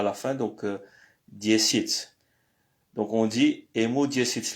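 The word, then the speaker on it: десять: Au fait, c'est écrit diesiat, mais ça se prononce diesit.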